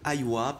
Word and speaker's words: Aywa: À elles 3, elles forment le trio Aywa, prononcé donc Aywa en arabe, oui, rythme électro, chant yéménite traditionnel.